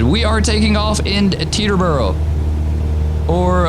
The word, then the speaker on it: Teterboro: We are taking off in Teterboro, or I guess how they say it in sim is T-Torboro or T-Turboro or something like that. But Teterboro, New Jersey.